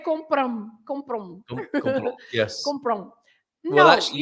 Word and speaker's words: compram: Compram. Au, au, au, au. Yeah. Compram. So Compram. you have to stress the com. You have to say compram.